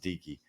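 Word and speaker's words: Dike: I think I called him Dyke, but I think it's pronounced Dickey. But I'm not a fan.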